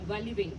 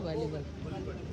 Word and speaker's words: Valivade: He is here today to promote his book Sunrise on Valivate. Is the pronunciation correct, sir? Sunrise Over Valivadi.